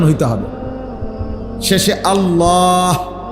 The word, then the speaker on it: আল্লাহ: শেষে আল্লাহ। শেষে একটা গোল হা আছে। ছোট হা।